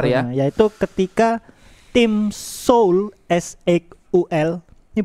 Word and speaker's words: S8UL: Bacanya gimana? Ya itulah, Seoul.